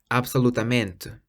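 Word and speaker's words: absolutamente: end in meant m-e-n-t-e in Brazil they pronounce the T more like a CH whereas in Portugal the te on the end is pronounced more like just the letter T so absolutely in Brazil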